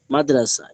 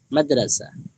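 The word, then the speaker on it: مدرسہ: একটি জরুরি বিষয় মাদ্রাসায় এর হা উচ্চারণে আসে না। মাদ্রাসায় এর হা উচ্চারণে আসে না। বাংলায় মাদ্রাসা বাংলায় মাদ্রাসা উচ্চারণে যেমন হ নেই লেখাও নেই। উর্দুতে লেখাই হ আছে উচ্চারণে নেই।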